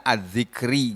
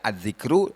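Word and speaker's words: ٱلذِّكْرِ: karena dia mudhof ilaih maka membacanya adzikri gak boleh dibaca adzikru Dibaca adzikro Tuhan lalu oleh nah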